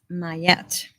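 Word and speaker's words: Maat: the highest good okay here we go Matt pronounce mayette or mayette mayette she's an ancient Egyptian deity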